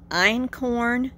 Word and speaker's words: einkorn: So she said there was three types of grains that we could eat, and only 3, and that was einkorn. It's spelled E-I-N-K-O-R-N, einkorn wheat, which is the natural ancient grain for wheat.